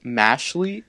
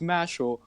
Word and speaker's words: Mashle: that read this title and pronounce it mashley is infuriating okay more than one out it